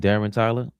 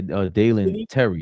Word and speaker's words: Dalen Terry: Was traded to the Bulls for, how you say his name, Darren Tyler? Yeah, Dalen Terry.